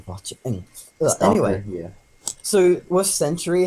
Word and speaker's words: Sentry: came with us a century the um robot guy he is awesome oh you said it right oh yeah I keep saying like Cemetery I'm from I don't